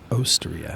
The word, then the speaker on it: Osteria: I think it's Osteria you said you focus on the o right yeah Osteria yeah not oysteria yeah